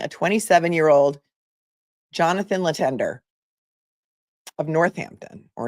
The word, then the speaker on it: Northampton: He's accused of shooting and killing a 27-year-old Johnathan Letendre of Northampton or Northampton. I know you guys don't like to pronounce the H's there, so you can tell me if I'm pronouncing it wrong.